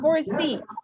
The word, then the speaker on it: foresee: And words that end in suffixes such as ear or e, stress on the final syllable, like engineer, pioneer, guarantee, foresee.